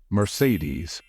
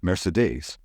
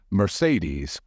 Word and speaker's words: Mercedes: by non-native speakers however the only right way to pronounce it in English is Mercedes remember it's not Mercedes it's Mercedes hey Phil look I don't